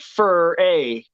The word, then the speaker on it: Furay: Well, it's spelled fur -ay, so it's like Furray.